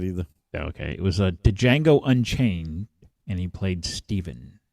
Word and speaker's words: Django: okay it was a django unchained and he played steven it's um django the d is silent no it's the django